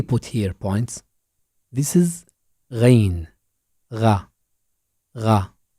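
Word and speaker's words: غين: here points this is rain the ra it has no counterpart in English but its sound is similar to gargling look at this picture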